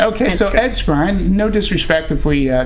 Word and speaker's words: Skrein: Thrones there you go I I watched a lot of interviews and everyone was pronouncing it scrine scrine okay so Ed scrine no disrespect if we